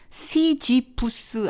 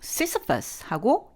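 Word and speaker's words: Sisyphus: 시지푸스 아니고 시시퍼스하고 영어로는 발음이 됐고요.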